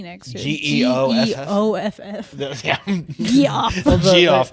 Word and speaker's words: Geoff: G-E-O-F-F. G-E-O-F-F. yeah. Geoff. Well, Geoff. the comic book guy, the comic book guy is spelled G.F.